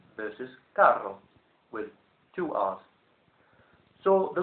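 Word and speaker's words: carro: word Caro meaning expensive and then the Spanish word Caro meaning Supermarket trolley and also a Latin American word for a car spelled with double r c a r r o and in that Example The Double R is rolled much more than the single R we have G one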